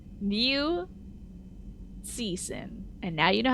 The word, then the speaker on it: Cixin: Liu Cixin. Cixin. Not Qixin, but Cixin. With the t sound to it.